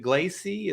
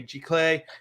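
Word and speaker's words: giclée: in the city uh is it glacey is that how you say it the g-class g-clay clay okay it's french okay g-clay uh print uh and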